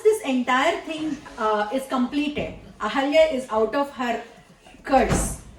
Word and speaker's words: Ahalya: Ahalya. Ahalya.